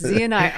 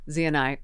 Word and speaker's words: ZNi: Well, I'm here with Zanai. Z and I. Zanai. Yeah, that's Zanai.